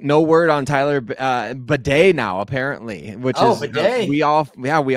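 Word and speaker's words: Badie: word on Tyler uh baday now apparently which is we all yeah we all found that out the last in his Breakout game against the Buccaneers we found out that he pronounces it Beday now but uh he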